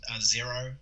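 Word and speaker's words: Xero: about a year that it's called zero which is spelled with an x so x ero and it's basically um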